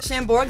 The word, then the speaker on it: Chambord: Chambord, the A is silent, Speedy.